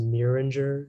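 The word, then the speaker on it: murenger: the information yeah uh the only pronunciation is miringer it's a noun it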